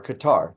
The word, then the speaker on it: Qatar: Qatar funds Hamas, directs Hamas, and the leaders of Hamas that aren't in Gaza are in Qatar or Qatar, depending on how you pronounce it.